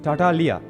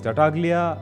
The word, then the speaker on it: Tartaglia: The pronunciation of Tartaglia is, if you look at him in the perspective of Commedia dell'arte side, it's Tartaglia.